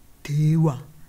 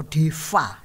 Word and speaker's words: deva: Kalau gods ini dimasukkan ke dalam bahasa Pali Sanskerta, itu kita mendapat kata dewa atau deva, ya, tulisannya V tapi biasanya bacanya W.